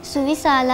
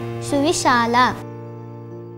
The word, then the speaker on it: ಸುವಿಶಾಲ: ಸುವಿಶಾಲ, ಅದು ಸುವಿಶಾಲ ಅಲ್ಲ, ಸುವಿಶಾಲ.